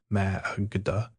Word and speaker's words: Magda: time she heard the Magda, as Mrs. Gray pronounced it, dwelling upon the first syllable and shortening up the last.